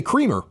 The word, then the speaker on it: Kremer: I'm going to go with Kremer, even though phonetically you would say Creamer, because there's only one M in there.